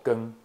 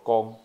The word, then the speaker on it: 光: 个字它白读念作 “ 更 ”（KNG）哈，这个是罗马